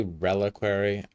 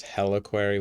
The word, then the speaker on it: reliquary: Wait, did that say reliquary? And I have pronounced that wrong so many times. I thought it was heliquary with an H. Secret room area. Oh, it is R.